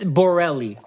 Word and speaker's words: Borelli: we have Jake Borelli on right now that Borrelli is it is it is that am i pronouncing it right yeah yeah is that Italian